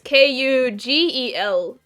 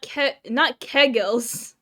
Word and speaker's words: kugelis: You spelled it almost correctly. It's Kugelis. Kugelis. Kugelis. No, not kegels.